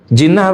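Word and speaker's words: جِنَّة: Jinnah apa artinya? Enggak, jinnah pakai kasrah, jinnah, minal jinnati wan nas.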